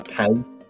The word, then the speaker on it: Pez: A Pez. A Pez dispenser. Pez. Pez. I don't know. Pez. There's no T. Pez. Listen. Listen. This letter in German is pronounced as S.